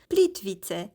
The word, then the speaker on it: Plitvice: My Croatian friends since told me it's pronounced Plitvice, so watch me pronounce it wrong for 2 whole clips.